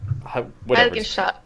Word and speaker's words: Heiligenstadt: It just popped in my head when Laurel was talking about Beethoven with the Heiligenstadt Testament. Is that how you pronounce it, Laurel? Stalt. Heiligenstadt.